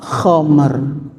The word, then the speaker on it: khamar: ini tulisan bahasa Indonesia Bacanya adalah k khamer khamer itu bahasa Arab secara bahasa aslinya khomer itu adalah perasan dari